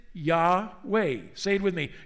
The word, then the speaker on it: Yahweh: screen why wh w we pronounce it yaw way same with me yaw way and from yahweh we